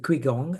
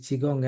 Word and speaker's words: Qigong: n and I know some people call it quigong and that's absolutely fine. It doesn't matter. The correct pronunciation is chiong.